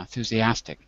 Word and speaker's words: enthusiastic: syllables right yes okay which one is the stressed syllable inth in listen I have to say it now enthusiastic enthusiastic enthusiastic so the stress syllable in enthusiastic is the fourth syllable and the problem that